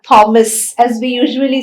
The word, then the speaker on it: Thomas: not pronounced as f or the it is pronounced as ter for example t-h-o-m-a-s is not thomas as we usually say it's thomas it's thailand